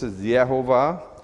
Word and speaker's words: Yehovah: So this is Yehovah, and that's how I pronounce it.